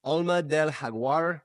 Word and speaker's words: Alma del Jaguar: Alma del Jaguar is how you say that name, but a lot of people call it Jaguar.